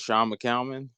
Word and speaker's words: Shawn McCalman: to giggle um well uh my name is Sean mcalmon but I've heard every pronunciation you could think of so I wouldn't